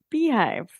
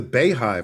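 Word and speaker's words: Beyhive: my Beyonce sweatshirt Beyonce you're part of the Beehive yeah I always thought it was the Bay Hive and I guess I was totally wrong yeah you were totally wrong uh because I am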